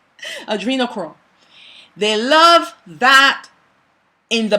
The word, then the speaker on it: adrenochrome: they love that they call it endochrome. Forgive me if I pronounce it incorrectly, but when the person is frightened, is that flight or fright hormone that is released into the blood. Adrenochrome, that's what it's called.